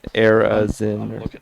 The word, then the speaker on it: Arizin: think the pronunciation thing said air and then dash UHZIN. Arizin, I think.